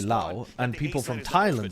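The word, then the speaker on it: Laos: um let's go for La oh my God La you mean Lao oh is it pronounced Lao I don't even know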